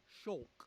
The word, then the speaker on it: Shulk: Pronounced Shulk, who lives in Colony Yep, 9 together with his best friend and his childhood love interest.